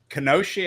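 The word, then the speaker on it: Kenosha: braver Angels convention uh in kesi in uh kenosi I think is the right pronunciation in Wisconsin uh situated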